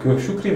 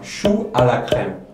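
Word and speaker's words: choux à la crème: 슈크림 아니에요. 슈 알라 크렘.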